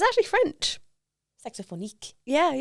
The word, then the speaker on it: Saxophonique: why people sometimes say saxophone unique, and I'm like, what? Where Oh, does so that people come from? say that. Oh, I get all sorts of pronunciations. So I'm thinking, if you're thinking of the word saxophonist, saxophonique, you know, that in